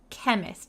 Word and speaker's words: chemist: a little bit hard so we don't say chemist we say kk chemist like a k the chemist needed to